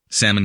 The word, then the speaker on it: salmon: Salmon equals Solomon Brothers Building 7 of the World Trade Center, which coincides with British Columbia. Salmon has a silent L to allow the creation